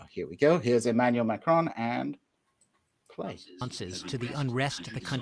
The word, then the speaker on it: Macron: And Pascal shared with me today a clip from Emmanuel Macron, le président de la République française.